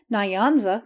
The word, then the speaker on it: Nyanza: The N and Y are joined in the mouth and never pronounced separately. The Nyanza, it would be nearer the mark to say the Nancy.